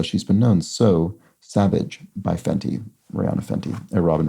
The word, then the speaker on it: Savage X Fenty: X Fenty which zor95 believes is said uh pronounced Savage by Fenty so the brand is sort of savage by